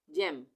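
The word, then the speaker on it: gem: यहाँ पे भी जी ई आ गया, जीनियस, और यहाँ पे भी जी ई आ गया तो जेम। यहाँ पे जी ई का उच्चारण क्या हो रहा है, ज।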